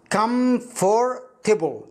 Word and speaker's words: comfortable: طيب انطقها مع بعض كأنها ثلاث كلمات مع بعض، كم فور تيبل كم فور تيبل كم فور تيبل كم فور تيبل.